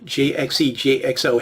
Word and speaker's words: JXE JXO: But if you sound it out phonetically and then try to say it fast, it sort of sounds like the English word jigsaw.